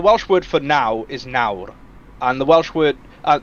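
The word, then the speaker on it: nawr: wales for the welsh word for now is nauru and the welsh word uh but the north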